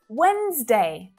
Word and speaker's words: Wednesday: pronounced this way aspirin wednesday i mean i know this one really does seem like you should be pronouncing three syllables it's very clear day but no we've got two syllables there and that d is a silent letter so there's a lot